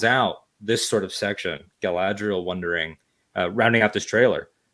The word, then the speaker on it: Galadriel: appropriately from now on it's not galadriel it's galadriel and she has sort of